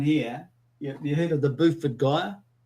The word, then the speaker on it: Beaufort: Beaufort. Just like beautiful, but Beaufort.